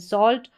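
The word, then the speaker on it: salt: यहाँ पर थोड़ा लॉन्ग उच्चारण है, लंबा, यानी यहाँ पर ए और एल को खींच के बोला जा रहा है सॉल्ट। सॉल्ट शॉर्ट नहीं है, लॉन्ग है।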